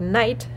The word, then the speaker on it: knight: And if they start like night, they actually are silent. The K is silent.